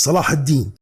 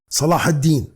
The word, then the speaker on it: Salah: word Saladin listen to me carefully the correct pronunciation is Salah Salah Salah got it thank you hello beautiful people